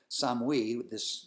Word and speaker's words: Samhain: And a lot of Celtic people switched from Samhain, or Samhain, which is how they pronounced it, Samhain, this god, this warrior god that they had been celebrating, and went to Christianity.